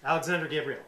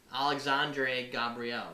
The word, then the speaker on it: Alexandre Gabriel: Alexander Gabriel. Yeah, we Yeah. did it backwards. It's Oh, Alexandre Gabriel, right?